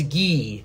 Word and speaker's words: Guy: Just like Guy is spelled Guy, but it's Guy.